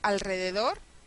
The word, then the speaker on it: alrededor: O alrededor, vamos a tener al re de do.